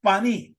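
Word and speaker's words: פני: luego vamos a ver, aunque aquí se escribe panay, pero siempre se pronuncia de la misma manera cuando te pone estas letras, que es exactamente paní.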